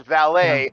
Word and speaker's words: valet: that I'm like no the fucking word is French and it's valet where you know just